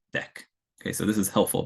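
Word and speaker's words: deque: ended queue means next class and it's usually pronounced deck okay so this is helpful because it's not obvious how to pronounce this word uh but anyways the way it's usually pronounced is deck um and then here they give you a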